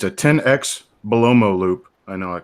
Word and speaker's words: Belomo: It's actually B-E-L-O-M-O. B-E-L-O-M-O, Belomo. But because it's a Bulgarian company, it's written in Cyrillic.